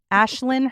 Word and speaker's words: Aisling: Ashlyn, her name is spelled Aisling.